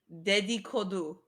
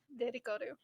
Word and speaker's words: dedikodu: I will ask you to repeat the word but slower so I don't mispronounce. Like my terrible habit of just. It's called, okay, Dedikodu.